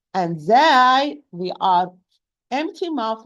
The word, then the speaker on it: ز: Sad, Sin, and Zay, they are pronounced tip of the tongue with the lower central incisor from inside, precisely the lowest part of the inner part.